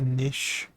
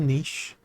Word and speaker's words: niche: absolutely fine it's clearly a niche I have carved out or niche depending on how you want to pronounce words things and we wait for